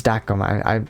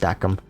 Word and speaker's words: Dakim: Oh, it's Dakim. I'd assumed it'd be pronounced Dakim.